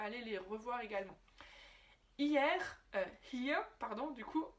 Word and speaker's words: hier: Si tu vois ce mot hier, on dirait que c'est hier, ça se prononce hier, here, d'accord? Avec le H au début, et le ER qui se prononce presque comme un A.